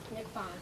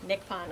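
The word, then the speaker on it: Nicpon: say your last name Nick Pon Nick Pon okay it's a hard C okay Natalie Paige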